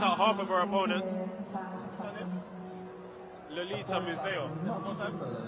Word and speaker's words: Lolita Muzeya: Lolita Muzeya. Lolita Muzeya. Yeah. See, I've done my pronunciation.